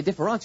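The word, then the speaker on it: différance: Okay, différence with an E and différence with an A are pronounced exactly the same in French.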